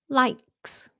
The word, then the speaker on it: likes: Likes.